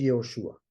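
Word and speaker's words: יהושע: el primer ejemplo que nosotros conocemos como Josué en hebreo se dice yoshua las primeras letras hacen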